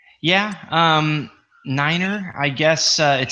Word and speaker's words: niner: Yeah, niner is the correct way to say the number 9.